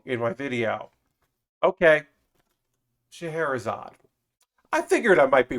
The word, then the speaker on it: Scheherazade: But apparently, it's the Scheherazade, is how you pronounce it. So I was pronouncing it completely wrong in my video. Okay, Scheherazade.